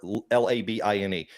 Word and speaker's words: Labine: Yeah, it's Tyler, Tyler, Labine.